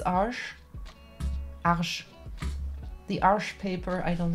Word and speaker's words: Arches: almost all the time is it true that this is not how you pronounce arches it's harsh the arch paper I